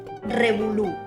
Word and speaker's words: revolú: Revolú, con V pequeña y acento en la U.